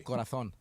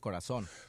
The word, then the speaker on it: Corazón: They pronounce the Z with a lisp. Give me a word that they pronounce differently. Corazón. Okay, now how would you pronounce it? Corazón.